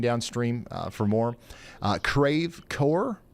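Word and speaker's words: Creve Coeur: Uh Crave Core Crave Cra, I need to record this one too because I'll plum forget it. I will definitely forget it. Crecore. Cre or creve core. Crevecore. Okay. All right. Uh creve core.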